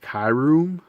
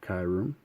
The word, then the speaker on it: Kyurem: So this is I think it's pronounced Kyurem. Correct me if I'm wrong, but he basically infused with Zekrom or Reshiram.